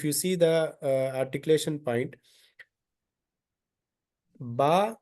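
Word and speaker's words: ب: Here, if you see the articulation point, ba is the letter coming out from the lips.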